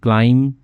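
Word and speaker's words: climb: करती है अस हमारी, क्लाइम बी साइलेंट इसमें भी, चढ़ने में, टू द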